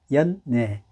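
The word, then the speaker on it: 연예: 연애 이렇게 길게 발음하고요 그 다음에 그 대중 앞에서 제주를 부르는 연애는 짧게 발음합니다 그 다음에 혀를 위천장에 조금 붙이면서 이렇게 됩니다 연애 연내 다르죠 그래요 자 그러면 연애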